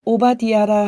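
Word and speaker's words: עֹבַדְיָה: 히브리어 성경은 오바디아라 하며 섬기다라는 뜻의 아바드와 여호와의 축약형인 야흐의 합성어로 여호와의 종, 여호와를 섬기는 자라는 의미이다.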